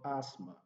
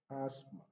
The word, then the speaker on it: asthma: for silent letters the th is not pronounced in the word asthma asthma so the letter t